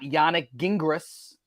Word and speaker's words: Yannick Gingras: He's got Yannick Gingras, I think is how you say the name.